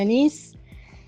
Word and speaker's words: Anís: Sí, lo pronunciaste perfecto. Es el linaje de la anís.